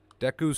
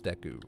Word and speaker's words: Deku: Deku Scrub?